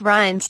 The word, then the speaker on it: Reince: over his party's insurgent and descendent president-elect it's pronounced Ryan's like pipes or ein s and pre bus